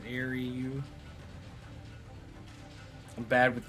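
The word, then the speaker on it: Xiaryuu: how do you say your name x-i-a-r-y-u-u it's Airy you I'm bad with names even in real life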